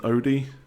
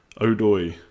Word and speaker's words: Odoi: Uh the second part of his name is Hudson Odi. Odoi. Odoi. Okay.